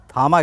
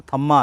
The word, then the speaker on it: Thamma: अजीब था कि यह थामा गया है और उस पर जो इंग्लिश में इसका स्पेलिंग था टी एच A double M ए तो पढ़ने में वो थम्मा आता है।